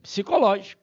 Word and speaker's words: psicológica: da ficção Urbana e psicológica né cuidado com essa palavra psicológica palavra que começa com PS não pode ser pronunciado up bom então muita gente